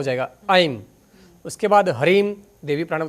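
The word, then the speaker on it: ऐं: तो ओम नहीं बोलना इसमें, आइम हरीम दिव्य नमः, ये इनका बीज मंत्र है।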